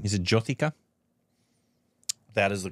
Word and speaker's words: Jyothika: I always mispronounce her name. Is it Jyothika?